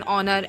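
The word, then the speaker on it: honour: बट कुछ exceptional case इसमें भी होते हैं, जैसे एन ऑनर, एन आर, an honest, ठीक है। तो यहाँ पे ओ से वर्ड लग रहे हैं, एच साइलेंट है, तो इसलिए यहाँ पे मतलब यहाँ पे एन का यूज़ हुआ है।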